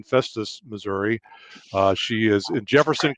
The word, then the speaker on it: Festus: with her family infestus is that the right pronunciation festus missouri she is in jefferson county okay in